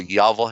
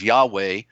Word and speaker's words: Yahweh: the spirit of life who we call yahwah Hey in the first identifying title of the great the great breath the great spirit of life which most people mispronounce as Yahweh but God that even